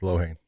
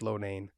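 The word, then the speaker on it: Loughnane: I know it doesn't look that way, but it's Lohane. No. Yeah, I keep thinking it's Lohane, but everyone keeps telling the way it's spelled looks Lonane.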